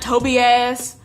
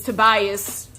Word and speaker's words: Tobias: of find out that the villains name is not Toby ass oops I'm sorry for mispronouncing your name man it's Tobias I'm just like oh